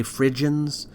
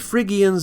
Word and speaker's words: Phrygians: In English, people often say Phrygians, and I've been known to vacillate between the two pronunciations, but Phrygians is closer to the Greek pronunciation.